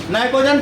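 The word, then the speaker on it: pnictogen: P silent है, नाइकोजन family.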